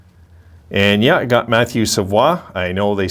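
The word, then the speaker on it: Savoie: to number six and yeah i got matthew savoir i know they say savoy but it's savvy i live in quebec guys it's a proper pronunciation of this guy's name so i got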